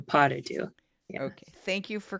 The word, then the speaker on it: pas de deux: So the first one's a French little phrase, and Folies, Deux, and then pas de deux.